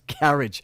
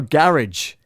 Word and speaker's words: garage: Rob Thomas, garage. No, garage, not garage. That's like carriage.